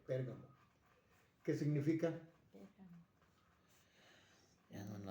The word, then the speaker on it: Pérgamo: Muchos dicen Pergamo, no es Pérgamo, es Pérgamo. Pérgamo. Con acento en la E, Pérgamo.